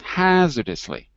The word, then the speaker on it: hazardously: one more time just just get the dust lee because you have to hear the lee at the end dustly repeat good hazardously